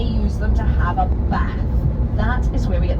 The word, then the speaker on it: Bath: things the king could say, such as bath. It's where we get the idea of King's English from. But if you do want to be historically accurate, Bath. It's much more satisfying if you say it like that.